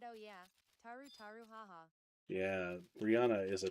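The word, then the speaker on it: Tarutaru: Said I did block WHT SMN Maru Maru. Oh, Maru Maru. You mean Taru Taru. They'll get very grumpy wumpy if you say their name wrong.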